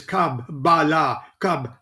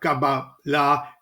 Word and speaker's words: Kabbalah: you are no kabbalist you don't even pronounce the word correctly it is kabbalah what you teach is not kaba la it is it is